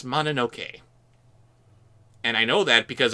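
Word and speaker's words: Mononoke: on your pronunciation there it is actually princess manoke and I know that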